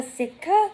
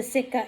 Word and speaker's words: sitka: Then you need what is called a sitka.